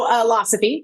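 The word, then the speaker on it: Philosofy: So Philosophy, pronounced like philosophy, is a line of organic, ready to drink premium cocktails.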